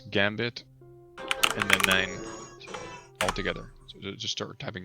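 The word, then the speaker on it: Nijn: I've never known that it's pronounced 9. It's 9.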